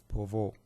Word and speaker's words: Pouvoir: I will pronounce it as Pouvoir.